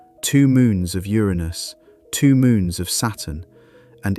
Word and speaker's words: Uranus: For the record, astronomers generally prefer Uranus over Uranus. The former is closer to the original Greek.